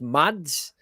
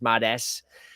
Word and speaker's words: MadS: It's quite um it's quite vague because they got a when you see written it's Mads with a big S as if it's Mad S but it's Mads.